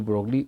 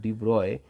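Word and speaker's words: de Broglie: एंड द ब्रोगली pronunciation करते हैं कोई-कोई से और इसको मेनली डी ब्रॉय बनाता है। डी ब्रॉय ने क्या कहा?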